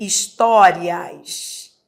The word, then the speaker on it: histórias: Em histórias. Histórias. Existe um dígrafo. É interessante por quê? Porque histórias, esse H não é pronunciado.